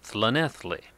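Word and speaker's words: Llanelli: are joining journeying to the quaint little town of flanethley no I don't have a lisp that seems to be the way it's pronounced and we'll view an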